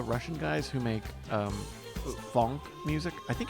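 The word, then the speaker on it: phonk: guys who make um funk music I think it's see it's p-h-o-n-k but I think I I'm sure it's supposed to be pronounced Funk because like pho like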